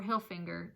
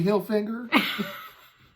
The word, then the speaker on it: Hilfiger: I love when people mispronounce it and say Hilfiger or Hilfinger. Those are my favorite things to hear. Tommy Hilfiger. I went to school with Tommy Hilfiger. Just say the syllables as they look on the page.